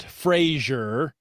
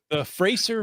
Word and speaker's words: Fraser: Not Frasier. The Frascer Valley Cash Bash. I'm working hard to pronounce that.